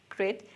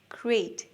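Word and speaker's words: great: Pronunciation টিপ, আমরা অনেকেই বলি গ্রেট, গ্রেট, কিন্তু সঠিক উচ্চারণটা গ্রেট। এরপর ছোট্ট করে একটা ই সাউন্ড আছে, এই, এই, গ্রেট, গ্রেট।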